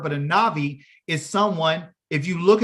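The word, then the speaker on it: נביא: who is it a navi is a prophet okay in a navi okay a Nabi that'll be pronounced as a v sound because it's not the first letter in the word but a navi is someone if you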